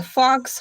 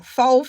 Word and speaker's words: faux: We all know it's a it's a what you fancy people say a fox fur. I know I said it wrong. Faux fur.